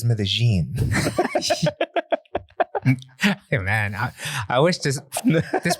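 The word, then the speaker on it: Medellín: everything's in english but all the spanish names you know like like a like an american would pronounce it right yeah right but it's medellin man i wish this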